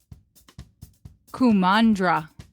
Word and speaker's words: Kumandra: does Rya and The Last Dragon take place kandra is that how you say it yes great